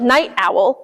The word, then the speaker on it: Knight Owl: It's kind of funny because it sounds like night owl, like owls being up at night, but it's spelled like a knight in shining armor.